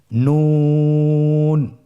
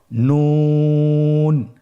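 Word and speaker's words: نون: নুন হরফটি উচ্চারণের ক্ষেত্রে অবশ্যই পাতলা করে উচ্চারণ করতে হবে এবং তিন আলিফ টেনে পড়তে হবে। আপনারা আমার সাথে বলুন নন। আরেকবার চেষ্টা করুন নন।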